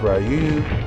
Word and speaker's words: Ryu: Ryu. That's how you pronounce it, Japanese.